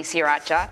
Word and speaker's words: Sriracha: Yes, sriracha, and I learned how to say it properly, sriracha, from your documentary.